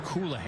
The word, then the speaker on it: Colohan: His name looks like Coolahan, but is pronounced Coolahan.